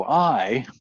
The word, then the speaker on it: Ai: is obviously wrong because Ai doesn't work very well. By the way, my pronunciation is important. The Hebrew word is Ryan and a yod for a vowel. So the correct pronunciation is one syllable, Rai.